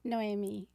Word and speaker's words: Noemi: wrong but uh it it sounds like Naomi but it's spelled like Noy and but it's actually pronounced Noami okay well I was